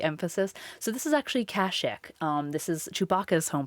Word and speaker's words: Kashyyyk: uh it's it's actually this is kashik or kashyyyk depending on how you pronounce it um many things in star wars have different vowel pronunciations like emphasis so this is actually kashik um this is chewbacca's home planet this is